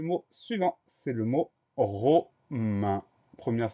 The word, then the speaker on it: romaine: Au masculin, c'est romain. Comme on ajoute le E pour le féminin, ça donne romaine. Donc cette fois-ci, on n'a plus le son 1, mais on a le son E des lettres AI.